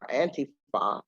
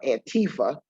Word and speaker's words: Antifa: So anti-fascism, or Antifa, as we say it, or Antifa, as our mispronouncers in the media say it, is any activity that opposes fascism.